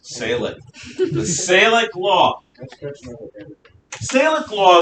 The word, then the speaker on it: Salic: It may be big. I mean, it's 2 whole syllables. Salic.